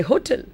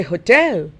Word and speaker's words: hotel: go to all of us say hotel but the British lady the British accent the stress is on the second syllable and therefore they say hotel so she had a